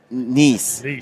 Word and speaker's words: Neess: It's like nephew Neess, just like that. Yep, easy. Got it. Yeah, that makes it easier, but it's not spelled like that. It is. Yeah, EES. Yeah, but not niece like my niece at home.